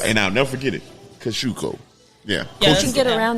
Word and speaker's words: Kosciuszko: And I want to say sorry how I pronounced this last time. Kosciuszko Park.